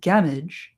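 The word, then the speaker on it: Gamwich: Gamwick or gamwitch pronounced gamage a sandwich gamage seemed therefore a very fair rendering.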